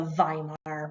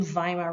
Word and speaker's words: Weimar: And here's Friedrich Ebert, the new head of the new republic in Germany called the Weimar Republic, spelled with a W, pronounced like a V.